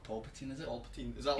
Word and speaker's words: Palpatine: Number 1's Emperor Palpatine. Palpatine? Yeah. Who's Emperor Palpatine? Emperor Palpatine from Star Wars. Palpatine. It's Palpatine. It's not Palpatine, is it?